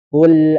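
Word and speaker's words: قُلْ: Qul auzu qul qul dibacanya qo qi tu baqo jangan dibaca ka. Nah, jangan dibaca qul au baik. Jadi tidak boleh diganti menjadi kaf. Nah, qul au ketika dia ganti menjadi ka artinya menjadi makanlah. Dan ini adalah kesalahan yang sangat fatal sekali. Harus dibacanya qoi, qu ya qo qul au.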